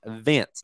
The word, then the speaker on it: Vence: So this company is called, I said it wrong, Vence, V-E-N-C-E, and this is the only company that offers this product for livestock in the U.S.